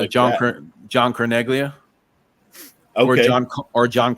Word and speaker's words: Carneglia: yeah it's John John carneglia okay or John or John Cornelia is silent G some people say you have to say it like Cornelia not Charles who's in